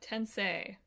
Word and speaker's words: Tensei: tensei yes we looked it up yeah uh tensei otherwise my joke wouldn't have been funny exactly